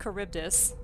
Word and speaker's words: Charybdis: a new Oh so I found so it's pronounced Charybdis and we can thank my mother for correcting